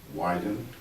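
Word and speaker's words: YDN: digital Network and uh it's pronounced YN widen and it's really to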